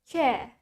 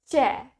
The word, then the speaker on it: chair: Kedengaran jelas ya, bunyi R-nya sangat jelas di American accent, while in British, we don't hear anything.